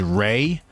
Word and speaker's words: Ray: Another thing is, it's like, one of the main characters in this game is Ray. It's spelled in the subtitles as Lay, but the characters very clearly say Ray.